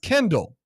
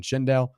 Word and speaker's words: Kendall: quote, I'm pretty sure his name is pronounced Kendall. Errors and omissions. I'm sorry. Kendall Weaver. Kendall Weaver. They're not What was I saying? Shindelle.